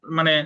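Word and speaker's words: mesne: এ জায়গা যদিও আছে MES এনি, অনেকে মেসনে প্রফিট করেন বা মেস প্রফিট করেন, অ্যাকচুয়ালি এর উচ্চারণ এসটা সাইলেন্ট থাকবে, এলো মিন প্রফিট।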